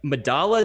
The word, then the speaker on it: Medalla: they say medalla, but in the rest of the Spanish-speaking world, two L's amount to a Y sound, so you call it medalla.